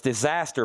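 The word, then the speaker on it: Desaster: It's Disaster, but it's spelled D-E instead of D-I.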